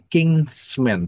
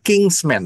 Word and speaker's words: kinsman: Siapa yang tahu mengenai kinsman? Bukan kingsman ya, tapi kinsman. Jadi beda ya, beda pengucapan ya.